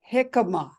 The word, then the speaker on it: jicama: to know I um jicama is that one yeah am I saying it right yes yes it's actually like spelled with a J you know right like yeah please j i c a m a oh okay yeah